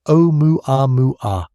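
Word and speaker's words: ʻOumuamua: The pronunciation is O-mu-a-mu-a, with gentle emphasis on each syllable.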